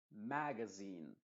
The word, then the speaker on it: magazine: Magazine or magazine en realidad, porque el énfasis está en zine.